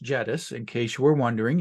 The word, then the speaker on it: Jedis: for uh for reddis and yes this is pronounced jettus in case you were wondering you don't get